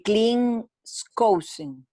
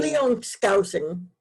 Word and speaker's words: Cleon Skousen: Milagro de América, El Milagro de Norteamérica, de Clint Skousen. ¿Es así como se pronuncia? ¿El qué? El nombre de la persona que hizo De este libro. Cleon Skousen.